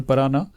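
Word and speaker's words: Paraná: थोड़ा सा प्रोनाउंसिएशन आप समझिए स्टूडेंट्स, रिवर पराना।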